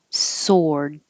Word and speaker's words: sword: or adjective smudged smudged sword forget about the w sword if you if you just say the word by itself sword you don't have to release the d sword so you won't hear it so it will sound like sore like my arm is sore um if there's a